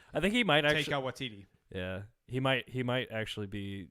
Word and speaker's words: Taika Waititi: We are looking at how to pronounce Taika Waititi. it is white. Taika Waititi.